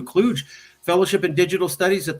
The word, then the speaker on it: Kluge: the only thing I would correct is it's pronounced as John W Kluge Fellowship uh it's it's not intuitive so I